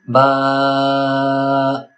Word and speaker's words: ب: it too much like ba but a little bit like ba. So the rule is neither drag it unnecessarily nor cut it too short.